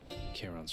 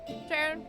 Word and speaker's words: Charon: Sharon, sorry, I said your name wrong. Charon.